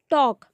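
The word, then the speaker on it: talk: बहना below next है टॉक टॉक बात करना टॉक टू मी मुझसे बात करो टॉक टी ए एल के टॉक बात करना ए और एल साइलेंट है इसमें तो टॉक बात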